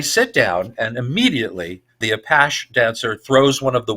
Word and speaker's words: apache: I know that's how they pronounce it in France. Apache or Apache, and that is a pimp in French culture.